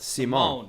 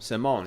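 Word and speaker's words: Simón: And pardon me, it's not pronounced like Paul Simon. It's pronounced like Simone. Simone.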